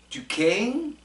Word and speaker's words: Duquesne: The other player I saw that was interesting was this guy from Duquesne. It's called Duquesne, but it's spelled D-U-S-Q-U-E-S.